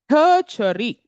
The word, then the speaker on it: tertiary: And the third category you can write as tertiary. Right? Ter- tiary. Right? Don't misspell it.